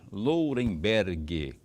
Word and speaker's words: Lourenberg: Professor Lourenberg, como vai? Como vai? Vai bem? Quando eu falo Lourenberg, o G é mudo, tá?